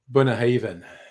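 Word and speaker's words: Bunnahabhain: I I was looking up the pronunciation and it's not that uh difficult. Really sweet. Bunah Haven and it's got a lot of um Yeah, it's got a lot of uh Irish to it.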